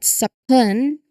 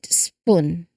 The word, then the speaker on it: spoon: Notice how the S sound blends smoothly and directly into the P sound without you know any intervening vowel. So it's not sapun but a swift connected spoon.